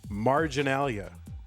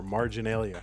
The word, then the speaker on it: marginalia: Thank you for bringing the word of the day, marginalia, or marginalia, depending on how you say it. Either one is fine.